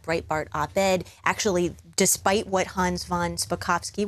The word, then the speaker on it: Hans von Spakovsky: Actually, despite what Hans von Spakovsky, which if you say it slowly, you can say it correctly, I just learned, despite his wishes not